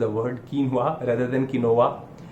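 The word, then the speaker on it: quinoa: amaranth को हम compare करने वाले हैं किनोआ से, सॉरी किनोआ नहीं, कीनवा इसका सही प्रोनाउंसिएशन है, क्योंकि यदि ये मैंने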